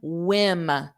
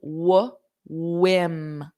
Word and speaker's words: whim: And then whim. So there's no H in it. It's just whim.